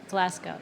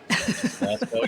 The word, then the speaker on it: Glasgow: that how you say yeah Glasco yeah glco you don't you don't have little that little growl in your voice you don't have to say Glasgow Lochness Edinburg Edinburg that's